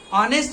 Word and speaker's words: honest: Honest में उसका pronunciation honest ओ से हो रहा है और ओ जो है वो किस में है?